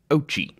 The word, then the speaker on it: Ouchi: video for this episode noting that the algie's name should actually be pronounced ochi oh gee okay we